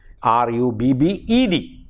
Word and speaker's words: rubbed: past tense by adding R-U-B-B-E-D, and the pronunciation for the past tense is rubbed. De is added.